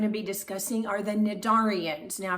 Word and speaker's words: Cnidaria: be discussing are the nadarians now if you thought that c was supposed to be pronounced it's actually not it's actually silent and so the correct